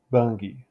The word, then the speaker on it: Bangui: video I've been mispronouncing this I see now phonetically it is more or less bangi um I'll do kind of an English pronunciation though so bangi bangi or bangi in Sango formerly written bangi